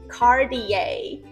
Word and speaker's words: Cartier: 没错，就是卡地亚，Cartier， Cartier。